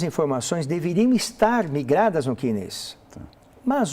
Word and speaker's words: CNIS: Se escreve S-N-I-S, C-N-I-S, mas se fala CNIS.